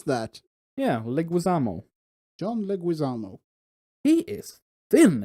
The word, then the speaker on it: Leguizamo: John Leguizamo how the you pronounce that yeah Leguizamo John Leguizamo he is thin in that picture